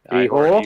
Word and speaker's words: Ihor: Well, you see, you pronounce it Ihor. Ihor.